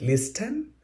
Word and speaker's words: listen: Is it listen? No. Here T is silent.